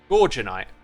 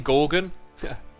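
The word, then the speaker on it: Gorginite: way stress's gem is pronounced gorgeonite as in gorgeous oh yeah I keep saying Gorgon she's the only one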